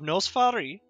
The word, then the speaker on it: Noss Farii: What we're going to be doing is I'm going to be taking my new map of Nos Farii, which is how you say it, and I'm going to be making a regional map.